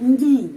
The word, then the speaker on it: не: Tidak tempatnya kata tidak, не, bahasa Rusia не, tapi pengucapannya ni, ya, pengucapannya ni.